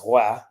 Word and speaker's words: Roy: was asking me, like, how do you pronounce your name? Is it want me to pronounce it Roy or Wah? So I said, well, it's pronounced Roy. It's not Wah.